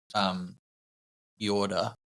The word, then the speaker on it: Jordet: of the book, but the author is called Jorda. It's Norwegian, so it's spelled Jordet.